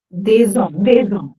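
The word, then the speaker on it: des hommes: But once there is a vowel coming after it, we do pronounce the S like a Z.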